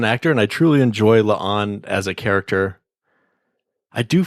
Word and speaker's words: La'an: and I truly enjoy LA on as a character I do feel sorry about her name though I mean it even rhymes with Khan It's like oh a